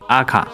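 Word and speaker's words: АК: 动步枪，俄国官方读音为阿卡，不过其他国家仍然以英文字母 AK 称呼。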